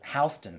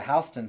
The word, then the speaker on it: Houston: you see the sign, you might think it says Houston. Houston, yes. Is It's it spelled actually the Houston. same way? It is spelled the same way. Oh, yeah. Yep. But it's Houston.